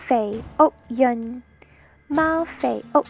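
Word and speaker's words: 肥: It's pronounced in Cantonese, Fei. Fei. In Mandarin, it's pronounced Fei. It means fat.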